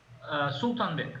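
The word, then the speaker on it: Sultanbek: WCM Zeneb How do you pronounce it? Sultan Bek. Sultan Bek. Sultan Bek Zeynep.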